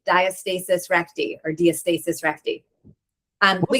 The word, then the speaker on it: diastasis recti: Diastasis recti. Um she's from Chicago, but um I've also heard doctors say diastasis recti or diastasis recti.